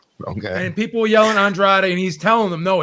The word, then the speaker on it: Andrade: great ray dray drake it's not dried straight actually telling you it is it's actually andrade i sat next to his cousin at a fight okay and people were yelling andrade and he's telling them